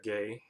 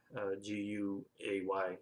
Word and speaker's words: Guay: Rebecca Gay, Guay. I think that's pronounced Gay.